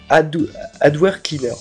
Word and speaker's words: AdwCleaner: C'est Adware Cleaner, en fait. C'est AW Cleaner, ça s'écrit.